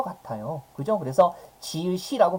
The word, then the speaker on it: 지읒: 지우지 이렇게 발음하지 않은 것 같아요 그죠 그래서 지읒이라고 발음하는 우리의 일상적인 발음이 맞고요 이건 예외에요 그러니까 원칙은